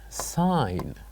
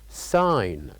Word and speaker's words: sign: that silent letter is sign sign so by pronouncing this word we can know that we didn't pronounce the letter G so here in this case the silent letter is G sign sign and then